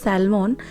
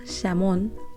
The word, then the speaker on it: salmon: তো বইতে পড়েছিলাম এই মাছটা, তখন উচ্চারণ করতাম স্যালমন, তারপর জানলাম স্যালমন না, স্যামন প্রনাউন্সিয়েশনটা।